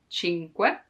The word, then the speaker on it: cinque: The hardest thing to pronounce in this word is que, cinque, because there's the You have to stop a moment before adding que, because otherwise cinque, no. Cinque, take your time to pronounce it slowly, and then it will come more natural.